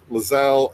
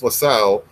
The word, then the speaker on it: Lissel: I think he sees LaSalle it's almost like an analog for himself in a way because whistle oh so like it pronounced like whistle well you know we've